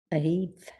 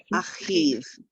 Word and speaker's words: achiv: Later on, we're going to see that pesky word that has a vav that we don't pronounce. But this one is achiv.